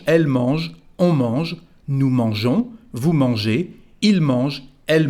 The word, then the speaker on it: mangeons: So the pronunciation is mangeons. Without this I, the pronunciation would be mangon.